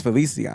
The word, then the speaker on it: Feliciano: The amount of emails I got, I've been saying John Feliciano, adding that in there, and everybody keeps correcting me. It's Feliciano.